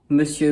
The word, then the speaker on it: Monsieur: Just like madame means “my lady”, “monsieur” means “my sir” and you can kind of see that in the spelling, but not at all in the pronunciation.